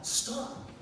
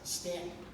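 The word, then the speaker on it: Staunton: something about Stanton, but I pronounced it as it's spelled with an aw, stomp. He quickly interrupted and very graciously told me the correct pronunciation with the and sound, Stanton, not stomp.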